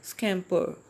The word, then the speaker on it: scamper: सो हम British accent use करते हैं तो हम उसको उसमें ब्रिटिश प्रोनाउंसिएशन को फॉलो करते हैं, और तो हम आर को नहीं बोलेंगे, हम बोलेंगे स्कैम्पर।